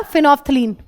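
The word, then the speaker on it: phenolphthalein: इसमें डाला फिनोफ्थलीन। L silent है फिनोफ्थलीन।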